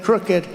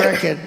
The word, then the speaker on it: crooked: They had a word the other day, crooked. I said cricket, you know.